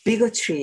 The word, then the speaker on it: bigotry: 이게 발음이요, bigotry 이렇게 됩니다. 위에 액센트가, 앞에 액센트가 있어요.